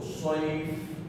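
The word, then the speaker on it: صيف: Saif is pronounced from Saad. Saad is a thick letter. So Saif, Saif, and this is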